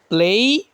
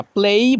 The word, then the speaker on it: play: প্লেই, স্যার। প্লে বলবেন না, প্লেই বলবেন।